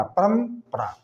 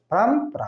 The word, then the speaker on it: परम्परा: तो म आता है, इसीलिए उसका उच्चारण म का रहता है, आधा गो म का, परम्परा, परम्परा, आधा गो म का उच्चारण वहाँ पे हो गया ये।